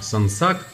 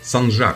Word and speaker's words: Sancak: Bu arada Latince “ce” harfi Türkçede “je” diye okunuyor yani tersanenin adının doğru okunuşu “Sansak” değil “Sancak” olmalı.